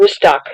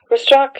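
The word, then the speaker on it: Rustaq: Took about an hour and a half, maybe 2 hours, and went to a city called Rustak, if you can find that on the map. It's, in English, is spelled R-U-S-T-A-Q.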